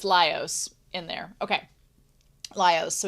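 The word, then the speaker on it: Laios: chuk um Leos lios lios okay so it's lios in there okay lios so we go back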